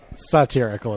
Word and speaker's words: satirical: Satirical is how you pronounce that, sir. I said satirical. Satire. Satirical. Oh, didn't I just say that? No. Satirical sounds different. You're saying it like sadism.